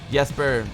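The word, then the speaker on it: Jesper: love to miss ran DK said yesper kid yesper is pronounced yesper has made music for quite a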